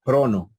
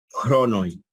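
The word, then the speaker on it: χρόνῳ: Se dan cuenta que no se pronuncia. En alguna época, en algún estadio anterior a la coine bíblica, posiblemente lo pronunciaban y decían cronoi, cronoi, pero hoy en día no, se dice crono.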